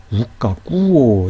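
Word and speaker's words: οὐκ ἀκούω: 조금 전에 여러분에게 설명을 드렸던 것처럼 우와 아꾸오 형태가 되면 모음을 연달아 발음하기 부담스럽기 때문에 이 사이에 까빠가 첨가돼서 이렇게 우까꾸오가 된 거예요. 이 경우도 이렇게 한 덩어리처럼 읽으라는 거예요. 아꾸오가 아니고요, 우까꾸오 이렇게 읽으라는 거예요.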